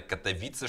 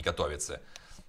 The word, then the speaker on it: Катовице: Выделяю именно Катовице, чтобы все поняли, а не Катовице. Пишется именно как у нас на всех наших баннерах.